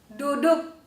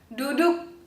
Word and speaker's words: duduk: 我们听听在最后面的时候，那个 K 不用念出来。 duduk, 好，你听，老师没有念成嘟嘟，没有哦，对不对？他怎么念？再听一次， duduk, 嘟嘟，嘟嘟，对不对？那个 K 要收住，不要放